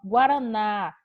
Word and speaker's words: guaraná: Ó, Guaraná é acentuado por quê? Porque é uma palavra oxítona terminada em A.